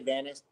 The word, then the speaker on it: Vanis: How is that pronounced? You're right when you say Vanis. Vanis.